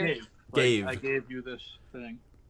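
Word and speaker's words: Ghave: You found the pronunciation? It's Gave. Cave. Gave.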